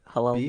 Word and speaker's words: Halal Beef: Halal Beef.